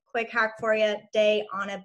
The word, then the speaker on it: Diana: So, and for those who are curious how to pronounce my name, quick hack for you: day on a beach, day on a lake, wherever you're from.